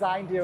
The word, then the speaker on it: Zayndu: if you're a grower, to learn more about Zindu online. Now, it's spelled Zu Z A Y N D U if I got it right. And so, but it's called pronounced Zindu.